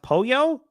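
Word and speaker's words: pollo: Oh, a melodic method is saying polo pronounced Poyo.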